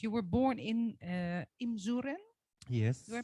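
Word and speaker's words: Imzouren: about your background you were born in uh imsuren yes do i pronounce it right it's a small village in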